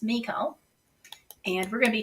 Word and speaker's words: Michal: m-i-c-h-a-l and I look that up and it's pronounced Miko and we're going to be talking about her